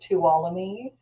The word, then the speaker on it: Tuolumne: Tuolumne County, like follow me, Tuolumne. Yeah, Tuolumne County is represents the northern entrance.